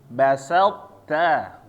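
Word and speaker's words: بسطت: Ta-nya ingat harus ada hamasnya ya, ada angin keluar. To-nya jangan ada anginnya. Sekali lagi, basalta.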